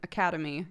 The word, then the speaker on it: academy: I stumble pronouncing academy. I really want to pronounce the second A in the word. I pronounce both.